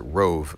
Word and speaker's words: ROAV: So this is the ROAV, $50 from Anchor. This is the ROAV, or I think they probably pronounce it Rove.